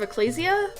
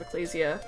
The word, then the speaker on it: Ecclesia: designs in order of Ecclesia or I I guess that's how it's pronounced I guess like Ecclesiastes so Ecclesia I don't know um